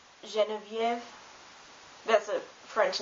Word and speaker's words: Geneviève: But in some foreign words, especially of French origin, it's pronounced like je, like Geneviève.